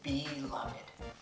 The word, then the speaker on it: beloved: And my word is beloved. Beloved. We pronounce the ed, and I don't know why, but I'm gonna go with it. It sounds cooler if you say beloved.